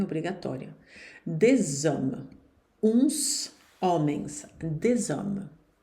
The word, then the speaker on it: des hommes: Des hommes. Uns homens. Des hommes. Cuidado para não dizer des hommes. Esse final não se pronuncia aqui, hein? Des hommes.